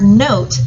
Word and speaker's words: note: I can change the word not to the word note by having a silent letter E on the end. The letter E makes the O say its name.